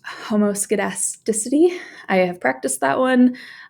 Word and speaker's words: homoscedasticity: And this is pronounced homoscedasticity.